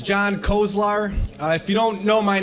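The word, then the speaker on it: Kozlar: John Kozler, did I pronounce that right? No, I didn't. There'll be a test. So hi everybody, my name is John Kolzar.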